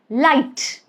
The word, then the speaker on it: light: So in all these three words, light, might, height, you do not pronounce the letter G. So there's no sound of G, okay, or J, which G does make sometimes, like in Gillette.